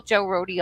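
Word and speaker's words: Joe Rohde: I think you pronounce this the Roadies Less Traveled. So Joe Roadie. Right. You don't say Joe Road, right? No, Joe Roadie.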